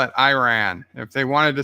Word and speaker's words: Iran: Nicole says Iran is pronounced with an E sound. Iran, Iraq. Not to be. Not to be. I call it Iran.